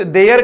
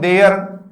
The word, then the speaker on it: there: एक तो इस देयर के बारे में मैं थोड़ी सी चर्चा कर दूं। देयर, आप इसको कभी भी दियर मत बोलना, ठीक है। ये वाला, इसका प्रोनाउंसिएशन देयर होता है, देयर।